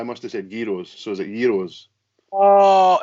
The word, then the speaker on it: gyro: episode Jay West put its gyro the G is silent but